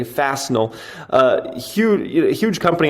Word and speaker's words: Fastenal: the belt on wednesday i can never pronounce this company's name right okay i call them fasting l okay fastenal uh huge a huge